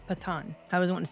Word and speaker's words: Pathaan: an English you know the way we pronounce th and that's just that's not it's patan patan I was going to say pathon no it's pathan and